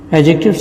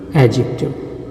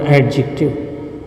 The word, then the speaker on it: adjective: And as far as its pronunciation is concerned, there is a D in its spelling, but it is not spoken.